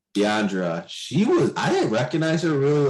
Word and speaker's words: Deandra: How do you pronounce her name? Deandra.